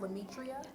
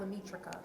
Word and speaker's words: Lametria: And your name is pronounced Lametria, Yes. but not Lametrica. No. Oh, interesting. So the C is silent.